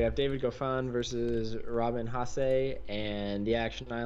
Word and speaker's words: Haase: on to the second round to take on Haas. Is that how you say it? Haase.